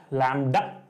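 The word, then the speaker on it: lambda: with the word लडा एल एम बीडी ए लडा B silent है लडा कोई इसको लडा बोल देता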